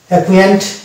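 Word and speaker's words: acquaint: উচ্চারণ আসছে কিন্তু এই সি এর উচ্চারণটা মানে সাইলেন্ট হয়ে যাচ্ছে। অ্যাকুয়েন্ট্যান্ট, অ্যাকুয়েন্ট, এখানেও দেখতে পাচ্ছি সি সাইলেন্ট, কিউ এর উচ্চারণ ক আসছে।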